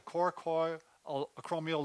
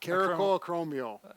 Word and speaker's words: coracoacromial: So what we're trying to do, we're trying to stretch out what we call the coracoid acromial ligament. Did I say it right? Corco? Caracoacromial. So, Well, that's a potato thing.